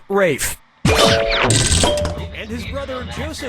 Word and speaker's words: Ralph: Player three, yep, Rafe Fine's first name is spelled like Ralph but pronounced Rafe.